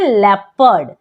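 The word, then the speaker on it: leopard: लेपर्ड। क्या पढ़ते हैं? लेपर्ड। चलिए अब जानते हैं कि पी साइलेंट कब होता है।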